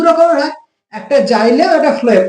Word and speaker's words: xylem: এবার জটিল স্থায়ী কলা আবার দু রকমের হয়, একটা জাইলেম, একটা ফ্লোয়েম। আচ্ছা, জাইলেমের বানানটা দেখে নাও, ইংরেজি বানানটা XYLEM, ইজি নয়, মানে জি বা জের নয়, XYLEM। ঠিক আছে, জাইলেম। তো জাইলেম আবার কি হয়, চার ধরনের কোষ দ্বারা গঠিত।